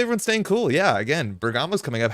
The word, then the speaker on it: Bergamo: in bamo this weekend or Bergamo excuse me I think I learned how to say it Bergamo weather network uh 25